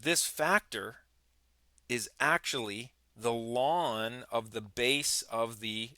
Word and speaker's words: ln: to calling it The Lawn the natural logarithm and so the pronunciation is like the grassy lawn in front of your house so that's G of